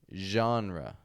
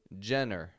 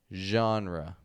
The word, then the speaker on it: genre: g n r e genre okay now of course maybe you've pronounced this Jenner I hear that often Jenner we don't want to say Jenner or anything like that but jean genre so the genre of